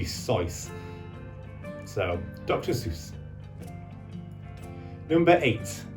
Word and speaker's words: Seuss: Seuss people often mispronounced the Seuss or in technically speaking you should be SycE so dr.